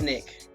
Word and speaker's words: SNCC: So, the Student Nonviolent Coordinated Committee, often pronounced SNCC, was one of the major American civil rights movement's organizations of the 60s.